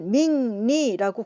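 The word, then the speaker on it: 命理: 사주 명리할 때 명리를 밍리라고 국제적으로 발음하는 것도 마찬가지 이유가 되겠습니다.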